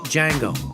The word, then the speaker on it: Django: Now, when he asks Jamie Fox about his name, Fox replies “Django. The D is silent”, to which Nero replies “I know”.